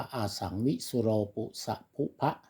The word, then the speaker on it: อะสังวิสุโลปุสะพุภะ: ครับ นะ น นะ ถ้า อ่าน เต็ม ๆ ก็ อ่าน ว่า อะสังวิสุโลปุสะพุภะ นะ นี่ ก็ เป็น อ่า ถือ